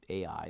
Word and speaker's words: Ai: whole story of the city called AI that's just AI that's the way we pronounce it where instead of when